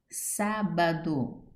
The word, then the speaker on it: Sábado: Sábado, sílaba tônica, sa, proparoxítona.